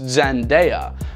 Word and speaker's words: Zendaya: The Shona term Tendai, which means to give thanks, is the source of Zendaya's name, which is pronounced Zendaya.